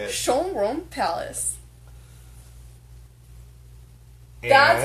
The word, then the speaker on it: Schönbrunn: Schönbrunn Palace.